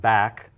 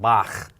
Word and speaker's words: Bach: For example, in Scottish, right, the word Lach. Lach. Think of the great German composer, Bach. Not Bach, but Bach.